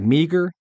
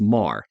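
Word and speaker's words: Meagher: variety of ways but looks like meager but I've always heard it pronounced Mah but marah was an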